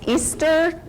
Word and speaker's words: Easter: It's Easter, like what happened last weekend.